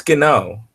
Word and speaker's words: Gano: Yeah, it's Gano. I say it like Kano from Mortal Kombat.